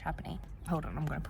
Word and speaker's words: Trapani: I've been saying Trapani, but I'm pretty sure it's actually pronounced Trapani.